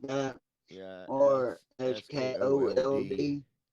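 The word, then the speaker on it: Sköld: How do you pronounce Tim's last name from Manson? Scald. Is that how you say that? Scully, Scully, SKLOD or something like that, Yeah, or S K O L D. SKOLD.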